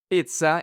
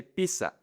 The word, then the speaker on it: pizza: Pizza. In Spanish, most people say pizza. Jacuzzi. Most people say jacuzzi. So, people in Spanish pronounce the double Z like an S.